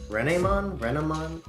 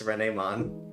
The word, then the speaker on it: Renamon: So, so I'm glad that it's Renemon. Renemon would probably go into like from Renard Fox French.